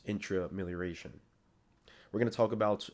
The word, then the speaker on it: Intramelioration: I was saying intramillaration, but it's intra and then amilaration. So together it's intrailaration.